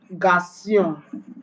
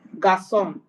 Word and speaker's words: garçon: It is used to give C and S sound instead of a hard K sound. When C is followed by A or O in a word, for instance, garçon, garçon, which means boy, and